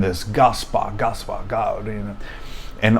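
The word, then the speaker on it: Gasbard: So, I pronounce my last name as Gosp as you heard me at the beginning of the show.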